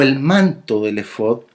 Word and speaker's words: efod: donde cuesta más porque es una palabra hebrea y que está escrito en las Biblias en español en la fonética hebrea original, porque así es como se pronuncia, efod.